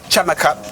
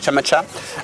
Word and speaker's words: Scamacca: arrivée, c'est Gianluca Chamacha, parce qu'il y a 2 C. T'es sûr que tu prononces bien? Non, je suis pas du tout sûr. Moi, je peux pas t'aider. Voilà, ça s'écrit S-C-A-M-A-2-C-A, donc c'est peut-être Cha finalement, Chamacha.